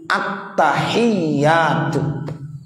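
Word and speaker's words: التحيات: Jadi, jika kita membacanya sebagai atahiyyatu, itu tidak diperbolehkan; atahiyyatu belum memiliki tasdid. Attahiyyatu. Ya. Jadi, tasdid harus jelas karena posisi tasdid mewakili satu huruf.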